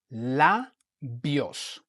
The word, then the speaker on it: labios: Okay, so you want to open remember what I said about the vowel A. You want to open your mouth when you pronounce the A. So it's labios.